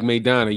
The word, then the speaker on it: Maidana: That's how you pronounce that. Rajdi says, yeah, Showtime Porter is tough. He's like Maidana.